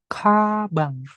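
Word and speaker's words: 가방: K, giok di depan. Ingat, dibaca KH ya, bukan G. Kabang.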